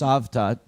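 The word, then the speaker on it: Cavtat: It was, in fact, in a place 8 or 10 miles south, in a place called Savtat. That's C-A-V-T-A-T, pronounced Savtat.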